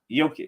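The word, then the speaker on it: Jokić: y uh uh it's I always say it wrong it's Nicola yic y yoke yic yeah you said it right yic oh my gosh it's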